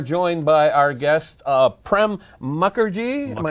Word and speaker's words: Prem Mukherjee: now we are joined by our guest uh prem mukherjee pronouncing that correctly yes you are hi you are